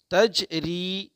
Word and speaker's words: تجری: بسم اللہ الرحمن الرحیم۔ تجری، تجری قلقلہ ہوگا یہاں پہ چونکہ جیم ساکن ہے، ٹھیک ہے۔ تجری، ری میں یا مدہ ہوگا، کیسے ہجے کریں گے؟